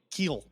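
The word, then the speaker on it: Kuiil: How do you pronounce the guy from Mandalorian? Oh, Queel. Queel. Keel.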